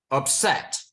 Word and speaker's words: upset: So, upset. Is it column 1 or column 2? Upset. Column 2. It's column 2, yeah. Yeah, it is. Because I stress the set, right?